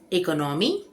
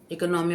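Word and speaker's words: economy: बोलते हैं अगला शब्द इकोनमी इकोनॉमी मतलब अर्थव्यवस्था या किफायत लेकिन ये इकोनमी नहीं है इसे बोलते हैं इ मी इकॉनमी इकमी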